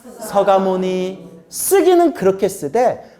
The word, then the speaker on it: 석가모니: 하지만 우리 한국불교 정통은 발음을 순화시키는 게 절집의 정통이기 때문에 석가모니라고 안 하고 서가모니라고 하는 거예요.